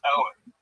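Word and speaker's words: Eoghan: My son's Irish name, spelled Eoghhan, but it's pronounced Owen.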